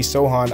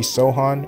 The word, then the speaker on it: Sochan: at number 25 with the miami heat i have him taking jeremy sohan out of baylor his name is pronoun his name is spelled jeremy sochan but it's jeremy sohan or sohan um he's a british